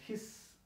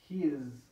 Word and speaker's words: his: Nosotros que hablamos español, vemos la S y lo pronunciamos his con S. Pero déjenme decirles que se pronuncia con Z. His.